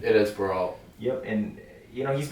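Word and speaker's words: Barriault: how you would say his name it is baralt yep and you know he's been durable through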